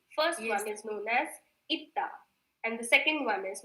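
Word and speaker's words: 있다: जैसे कि first one is known as itta and the second one is known as pronounced as isoyo.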